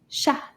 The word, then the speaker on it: chat: And a cat in French is called un chat. Chat. These 2 letters make the sh sound, and the T is quiet. Shh. We don't say the T at the end of this word.